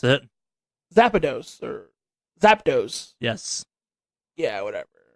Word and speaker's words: Zapdos: That's how you pronounce it. Zapdos or Zapdos.